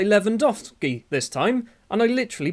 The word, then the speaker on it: Lewandowski: I was saying Lewandowski because there's a W in it.